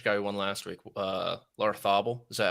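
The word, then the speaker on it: Larrazábal: At last, because the guy who won, the Spanish guy who won last week, Larthabal, is that how you pronounce his name?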